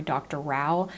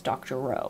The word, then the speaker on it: Doctorow: Jen Wang I think I've been saying his name Corey Dr Rao and I believe his actual pronunciation is Dr Rowe which I learned from